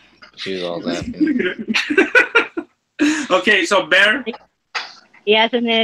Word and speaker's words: Bayer: Bear. Bear, like an actual bear. Like B-A-Y-E-R. Like the aspirin.